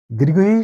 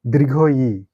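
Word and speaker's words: দীর্ঘ ঈ: অনেক সময় একে আমরা দীর্ঘ ই এরকম ধরনের কিছু বলে থাকি, কিন্তু এর সঠিক উচ্চারণ দীর্ঘ ই।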